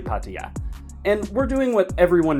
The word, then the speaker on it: Pattaya: Often mispronounced in English as Paya, but actually Patya.